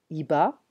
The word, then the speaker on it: Hiba: Iba, we don't pronounce the H in French.